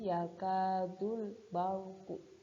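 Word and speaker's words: يكاد البرق: Contohnya yakadul barqu, di situ ada ro sukun didahului ba berharokat fathah, makanya dibaca tebal. Cara membacanya seperti tadi, yakadul barku.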